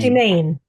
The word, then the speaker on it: Domain: Is it like the French pronunciation, Demain or Domain? Domain. Domain. I There always you go. call it domain, Yeah.